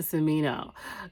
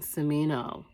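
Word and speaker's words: Smino: your new album i'm gonna be listening to samino guys this is the artist that i am loving for the past couple of years i am loving cimino hopefully i'm saying his name is spelled s-m-i-n-o-s-m-i-n-o samino phenomenal artist no one sounds like him he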